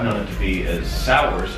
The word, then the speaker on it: Sowers: last name, I've known it to be as Sowers, S-O-W-E-R-S.